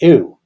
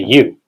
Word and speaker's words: ewe: The answer is an ewe. Or you, I think you actually pronounce it a you.